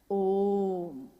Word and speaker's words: ओम: ध्वनि की आवाज थी अ उ म अगर एक साथ सुना जाए उसको तो उसकी आवाज गूंजती हुई ऐसी है जैसे हम बोलते हैं या उच्चारण करते हैं तो हम कहते हैं ओम है वो अ उ